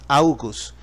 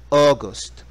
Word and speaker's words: August: olvidé de enfatizar es la pronunciación del mes de agosto no es augus sino aust aust agosto Okay es importante pronunciarlo bien hasta aquí llegamos Qué